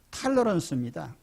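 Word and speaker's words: tolerance: 이 관용을 의미하는 이 톨레랑스라는 말이 영어로 발음하면 탈러런스입니다.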